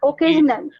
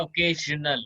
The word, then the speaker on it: occasional: Right, Occasional. ज होगा। साक्षी जी कैसे आप इसको प्रोनाउंस करोगे? Occasional. हाँ, ओके, ज होगा, ओकेजनल। Yeah, occasional. Okay, Yeah. ओकेजनल ना एस है, लेकिन ज उच्चारण होगा इसका, प्रोनाउंसिएशन।